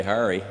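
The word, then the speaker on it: Harre: I should say Hari. I'm trying to get the pronunciation of this very complicated name of this wonderful president of this school.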